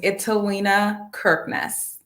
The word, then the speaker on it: Italina Kirknis: your last name first and foremost will you pronounce my first name perfectly my name is italiena kirkness kirkness okay okay i got it awesome um